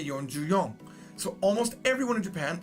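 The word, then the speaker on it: 四十四: Yonju-yon. Now, you could say Yonju-shi, but it's weird. It's really weird. For this reason, most people say Yonju-yon.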